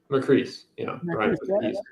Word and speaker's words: Macris: yeah it's all right it's a Mac from Mac Rhys mccreece I am a New Yorker that's obviously most people do macros it's just uh my father always said it was McCree so that's how I pronounce it no I've listen